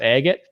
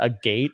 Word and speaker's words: agate: which is made of Agate I was calling it a gate but it's Agate uh my pronunciation of